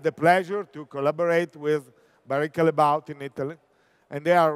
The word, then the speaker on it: Barry Callebaut: manager of the gourmet division the case of Barry Callebaut you know all of us will speech Barry Callebaut but they are from Belgium and they say